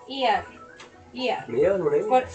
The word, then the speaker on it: ER: Mira, tiene un Emmy a mejor serie de ficción, perdón, por. ¿Ganó un Emmy? ¿Por cuál? ¿No sé, no. No, no tengo idea. Pronunciado ER.